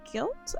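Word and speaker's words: Gylt: playing the same game called guilt I guess that's how you pronounce it g-y-l-t and it's it's horror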